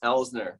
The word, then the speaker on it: Elsner: sure i'm uh elsner is how you pronounce the last name okay and i'm a